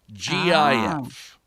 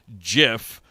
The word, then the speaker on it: GIF: pronunciation of the jiff which he says is pronounced like the peanut butter brand jiff you would know he's